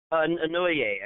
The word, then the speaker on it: Inouye: Anoye, I think is how he says it.